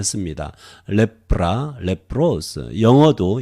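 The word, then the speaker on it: λέπρα: 레프라 이렇게 발음하고요.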